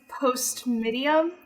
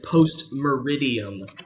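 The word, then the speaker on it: post meridiem: What is post-medium? Oh, man. Oh, it was so close, but I'm sorry. Post-meridium. Meridium, okay. Yep, just missed one syllable.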